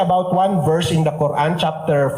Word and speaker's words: Quran: Iyung Quran na sinasabi the proper pronunciation is Quran.